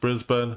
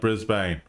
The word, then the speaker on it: Brisbane: Um, chat, it's pronounced Brisbane, not Brisbane, just letting you know.